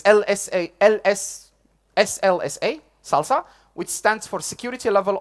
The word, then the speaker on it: SLSA: It's pronounced Salsa, but you will notice there is an A missing. That's not a typo. It's actually written this way. It's SLSA, Salsa, which stands for Security Level of Software Artifact.